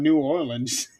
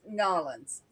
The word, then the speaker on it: New Orleans: Yeah, I'm ashamed to admit or New Orleans. It's Norins.